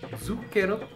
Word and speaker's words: zucchero: En début d'un mot, c'est Z, comme dans zucchero, ou tse, comme tsetse.